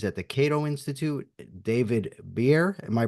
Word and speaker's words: Bier: the Cato Institute, David Bier. Am I pronouncing that correctly? That's right, beer.